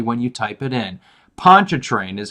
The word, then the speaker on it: Pontchartrain: Pontchartrain is how it's pronounced.